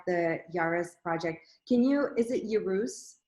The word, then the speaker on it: Yerus: Is it Yerus? How do you pronounce that?